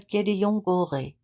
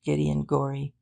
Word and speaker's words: Gédéon-Goré: But finally, "Je m'appelle Gédéon-Goré." He pronounced it in his most nasal, perfect Paris French. It didn't even sound remotely like Gideon Gorey.